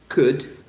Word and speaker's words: could: So remember that this grapheme is not pronounced. This is not pronounced. Okay, so you say could, should, would, good, look, book, foot, put, push, pull, pull, sugar, would.